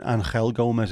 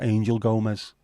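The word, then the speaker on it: Angel Gomes: and out fantastic fact it's not even anel Gomez it's Angel Gomez I doesn't pronounce it as anel then the Wales a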